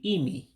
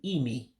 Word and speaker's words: imi: It's simply Imi. Imi, nose. So again, the eyes are pronounced as E's in Igbo. So that's why it sounds that way. So again, for nose, you would say Imi, nose.